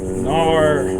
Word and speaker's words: Knarr: Knarr.